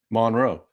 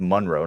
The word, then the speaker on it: Monroe: m o n r OE how would you pronounce that town Monroe okay Drew Monroe don't be scared Ian it's